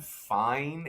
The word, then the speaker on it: Fien: 2 high school players that are coming into play in this range are Gavin Fine. It's spelled Fien.